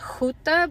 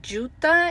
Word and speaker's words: Juta: English um I know in Spanish is read huta because it's written with a J I call it juta in Engish English but